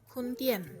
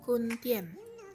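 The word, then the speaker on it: 坤甸: Jadi Pontianak dalam bahasa Mandarin adalah Kuntien. Aku ulangi sekali lagi, Kuntien. Sekali lagi, Kuntien.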